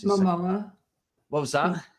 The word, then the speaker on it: Momoa: I can never pronounce his Momoa. What was that? Momoa.